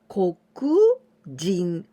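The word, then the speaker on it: 黒人: Adding this kanji jin, person, here we pronounce jin. Kokujin. This is the black race people.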